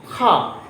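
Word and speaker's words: car: और जो इंग्लिश में होते कैसे बोलते हैं? यू हैव अ खा, यहाँ पे खा बोलते हैं, आर यहाँ पे साइलेंट होता है, लेकिन हम लोग generally you have a कार।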